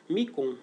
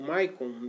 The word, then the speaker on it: Micon: E eis que chega no reino deles, na ilha deles, Micon, ou Maicon, depende de como você quiser pronunciar, que é o filho mais velho do rei, do soberano da capital lá de Atlântida.